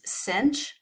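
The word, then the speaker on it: sinh: cosine of X now we pronounce these Cinch of X and cosh of x sense of X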